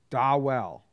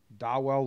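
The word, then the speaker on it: Dawel: us about dwell Lugo they say it's pronounced da well da well Lugo yeah he played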